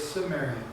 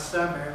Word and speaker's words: Cimmerian: The name Gamaran is translated into Cimmerian, which we now say is Cimmerian. Not Sumerian, but Cimmerian. It's a soft C.